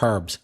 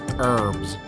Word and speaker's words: herbs: Whereas in America, they don't pronounce the H, but they put even more R sound. So it becomes herbs.